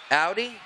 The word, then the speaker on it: Audi: All right, so if you're the owner of a black Audi out the back, Audi, not Aldi as in the cheap fast food, yeah, it's Audi.